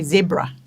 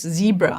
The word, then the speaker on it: zebra: at the fact that we say zebra here in South Africa, not zebra, I think is what I have heard others, how they pronounce the word zebra.